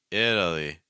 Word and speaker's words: Italy: l sound so it Italy it Italy so we started with vows then we added a fast e it it and then we added to dark L Italy it Italy it Italy